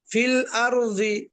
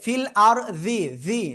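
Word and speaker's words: فِي الْأَرْضِ: আপনার জিহ্বার আগে উপরে লাগবে ঠিক আছে আমার উচ্চারণটা একটু শুনবেন কি হুজুর বলেন ফিল আরজি এই যে ফিল আরজি জিহ্বার আগায় উপরে দুই দাদাের আগায় যাতে না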